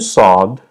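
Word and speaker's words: ص: In terms of pronunciation, this set is special, but they're easy to produce if you understand that these sounds are just thicker versions of sounds you already know.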